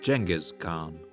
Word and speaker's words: Genghis Khan: European scholars would later translate these sources into Latin and eventually into English in the 19th century, at which time the translators used the letter G to denote a soft sound like in general or German.